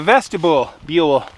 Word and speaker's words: vestibule: So that is why you have a vestibule. I can never say that word. Vestibule, it rhymes with mule.